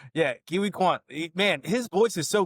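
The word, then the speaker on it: Ke Huy Quan: for pronouncing his name correctly. Yeah, Kiwi Kwan.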